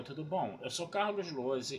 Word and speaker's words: Lohse: Meu canal no YouTube é o Carlos Lose. Lose se escreve Lohse, se escreve com Z.